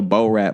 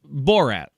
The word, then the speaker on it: Borat: No, I get it now that you say it, but first you were like in that Bo Rat movie. Yeah, well, how do you say it? Borat. Like Bo Rat.